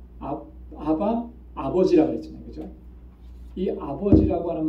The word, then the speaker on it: 아바: 원래이 말은 아라모 그래요 아라모 정확한 발음은 아빠라는 우리 말에 아빠하고 똑같아요 발음이 아빠라고 그 누가 아빠라고 하죠